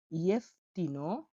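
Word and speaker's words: jeftino: ইয়েফতিনো, ইয়েফতিনো যে, যে মানে এটা, আর ইয়েফতিনো মানে সস্তা। তাহলে জটা ইয় অন্তস্তয়ের মতো উচ্চারণ হয়, তাহলে ইয় উচ্চারণ হবে।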